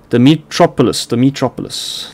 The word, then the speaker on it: Dimitropoulos: So this is apparently Dimitri, how do you say this? Dimitropoulos, like almost Metropolis from Superman.